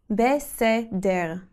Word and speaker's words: בסדר: You say it like this, beseder. Try to really pronounce the resh at the end.